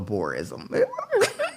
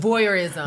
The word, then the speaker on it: voyeurism: I like a little boreism. You know, is it? boreism when people you outside and people could. Oh, voyeurism.